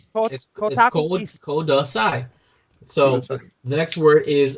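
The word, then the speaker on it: ください: SCI code si that's please note that it's it's kudasai so the next word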